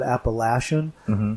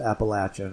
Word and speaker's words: Appalachian: Now, in other parts of the country, they pronounce that Appalachian or Appalachian even, but here they pronounce it Appalachian, and so that's the proper way to pronounce it.